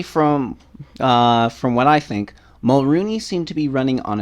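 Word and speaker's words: Mulroney: and Doug Ford and Caroline Mulrooney yes that's how it's pronounced everybody Caroline Mulrooney for coming into TVO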